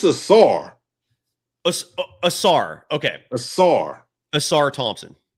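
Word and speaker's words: Ausar: I'm I'm doubling and tripling down on Assar. So the S is like a strong pronunciation. Like like your your your emphasizing the S. It's not a soft S. It's Assar. going with Assar.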